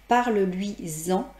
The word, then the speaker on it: parle-lui-en: entendent ce son en, parle-lui-en. Et en fait, il faut mettre à l'écrit des tirets, bien sûr. Et bien sûr, on entend un Z, mais bien évidemment, ça ne s'écrit pas Z-A-N.